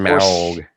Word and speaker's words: Smaug: That's how you pronounce it, Smaug.